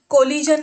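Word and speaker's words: collusion: अक्षर आपण वापरले आहे ठीक है त्यामुले इथे स्पेलिंग मध्ये जसा फरक पड़तो तसेच इथे उच्चार म देखील फरक पड़त है याला आपण कोलिजन म्हणतो ठीक है कोलिजन आणि हे सेकंड जे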